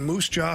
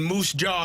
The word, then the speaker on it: Moose Jaw: I guarantee the guy in Moose Jaw, Saskatchewan, had no idea who the hell Jordan Walker was.